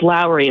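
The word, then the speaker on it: Lauri: talk to me about Lowry this summer like the important thing is that it's it's Lowry like Mike Lowry like Kyle Lowry so import if he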